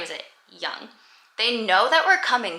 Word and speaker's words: Young: pronounced we pronounce it young like y o u n g um so we like Aaron's pronunciation of her last name is anglicized to begin with and again obviously English